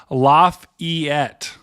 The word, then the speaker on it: Lafayette: do it oh princess Le is saying it's pronounced laugh EET okay thank you Princess Leia